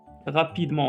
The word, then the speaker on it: rapidement: Rapidement, on n'a pas prononcé T.